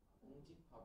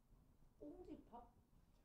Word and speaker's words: 공집합: 공집합이라고 해야 된다. 발음이 공집합 이렇게 꽁집합? 안 그렇게 공집합으로 시끄럽고 빨리 적으라고.